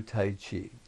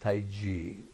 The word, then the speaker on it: Tai Chi: Europe I watched I gia watch people do Tai Chi really it's pronounced Taiji so next time you're at a cocktail party